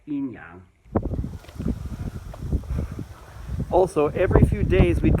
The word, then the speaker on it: yin-yang: Yes, these are the same yin and yang in the famous Chinese phrase, yin yang, or more commonly in English pronounced like yin yang, but the original Chinese is more like yin yang.